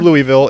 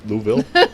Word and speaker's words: Louisville: was our very first time we went through louisville and i'm i'm not a fan of that that littleville davidsonville louisville yeah you said it wrong louisville louisville louisville